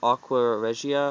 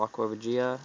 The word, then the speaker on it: aqua regia: nitric acid uh called aqua regia or aqua regia there different ways to pronounce it and the reason it